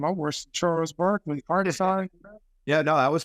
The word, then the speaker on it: Hartenstein: Then you come off the bench with McBride and all these other guys that I can't pronounce his name. I'm worse than Charles Barkley. Hartenstein.